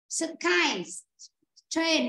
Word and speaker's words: sky train: Sky train. Đây là từ ghép. Dánh từ ghép. Trong ấm sẽ rơi vào ấm tiếp thứ nhất.